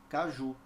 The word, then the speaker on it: caju: aqui a palavra Caju Veja essa palavra tem uma sílaba que é pronunciada fortemente é a última Caju certo então eu posso